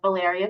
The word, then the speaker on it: Valeria: I saw, is it Valeria? Am I saying it right? Yes, you did say it right.